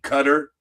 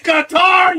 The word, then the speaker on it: Qatar: when they were saying cutter. CUTTER. IT'S QATAR, YOU MORONS. You talk to people from Qatar. And how do you pronounce your country? It's Qatar. It is Qatar. It's not cutter.